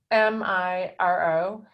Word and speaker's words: Miro: I have a vowel problem, but it's Miro.